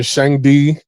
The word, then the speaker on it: Shangdi: I used to live in Shangdi, excuse me. That's how you pronounce it.